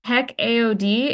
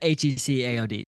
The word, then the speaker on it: HECAOD: And heck AOD is the way that you shorten that. Yeah. Yeah. So, he AOD or we've even heard people pronounce it HC AOD.